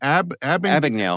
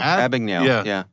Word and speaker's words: Abagnale: Abagnale. Abagnale.